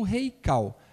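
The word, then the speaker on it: Heikal: E se você quiser ver os meus vídeos, eu tenho um instituto chamado Instituto Reikal. Reikal se escreve com H, é H-E-I-K-A-L, que significa em hebraico local sagrado, tá?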